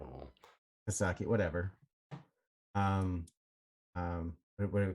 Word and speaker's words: Psaki: Psaki to kind that of is how you pronounce it, right? Psaki. it, Psaki or is it Saki? It's Saki. The P is Cyclops. silent. Oh. Psaki, whatever.